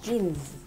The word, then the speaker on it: jeans: jeans jeans là quần mình hay gọi là quần jean đấy Nhưng mà thực ra nó phải là jeans đó thì đây là quần bò của chúng ta Ok nhớ là cũng phải có cái chữ ở cuối và mình đọc bởi vì nó cũng có tới hai cái ống liền Ok jeans quần bò